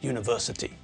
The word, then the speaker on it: university: university not to earn university because although the word university starts with a vowel in the same way as unicycle when we pronounce the word it's pronounced as though it begins with a consonant it's that you sound